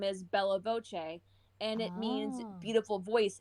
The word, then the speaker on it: Voce: term in italian and voce for my name is spelled v-o-c-e just one this voice but it's singular not voices it's a voice so i'm like bella